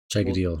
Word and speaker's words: Chaigidiel: Chigadale. Ooh, deal. I like that. Chigadale. DIEL is deal.